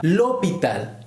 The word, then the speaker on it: l'hôpital: Ahora seguimos con otro ejemplo que sería l'hôpital. L'hôpital, en este caso empieza por H muda. Funciona de la misma manera.